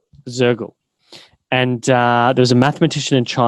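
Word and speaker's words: Soergel: So you've worked with some really interesting people, Ben Elias, I think Wolfgang Sergel, is that how you pronounce his name? Mm-hmm. Sergel or Shergel? Zergel.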